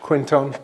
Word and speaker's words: Quinton: you see it there it's actually a Frenchman's name Renee Canton but we just pronouncing Quinton because we're English I guess its other